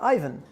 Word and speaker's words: Aiven: because I work at Ivan which is pronounced Ivan because it's a Finnish company and this is the